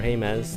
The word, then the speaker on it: Jemez: After I left Cuba, or after I left the Jemez Mountains, or Jemez, depending on your pronunciation, I went into Cuba, New Mexico, and then up to Farmington.